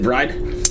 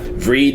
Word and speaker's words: Vreid: delicious sweet so let's talk about bride and actually that's the way to pronounce it bride yeah we were having yeah we were having a discussion before and yeah Ved is the way I always pronounce yeah that's